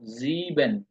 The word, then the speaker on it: sieben: আর এখানে আই আগে ই পরে, এই জন্য হবে দীর্ঘ এর মতো, জিবেন।